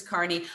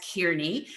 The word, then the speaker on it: Kearney: mispronounced new jersey town so that i would not mispronounce your name as kearney um if however i